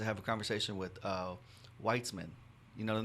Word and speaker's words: Weitzman: a conversation with uh weitzman you know the name w-e-i-t-z-m-a-n wheats man weitzman so i met him